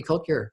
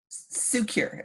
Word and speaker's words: Cukier: yeah but everybody does what's the right pronunciation please secure as the first secure secure i apologize so